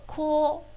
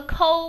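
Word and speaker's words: こう: 那么前面第一个字读作一个こう，こうこうこうこうこうこう，对不对？不要读成个抠，不是抠的发音啊。嘴巴放得小一点，圆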